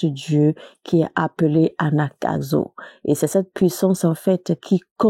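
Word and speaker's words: Anagkazo: Anakazo s'écrit A-N-A-G-K-A-Z-O.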